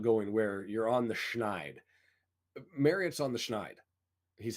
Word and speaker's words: schneid: up, I was like, why do we use the word snide? Because that means like a bad person. And so I looked it up. It's actually schneid, and I was been mispronouncing it my entire life.